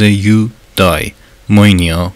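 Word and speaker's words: εὐδαιμονία: کلمه یونانی مورد نظر ارسطو یوداییم مونیا با تلفظ یودای موینیا ولی با معنای مخالف بود.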